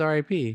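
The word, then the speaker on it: RYP: Oh, I thought it says R.I.P. No, it's his name. Oh, it's R.Y.P. But it's pronounced Rip.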